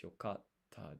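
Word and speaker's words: よかった: So the it's a double T not a double K, so it's yokatta desu.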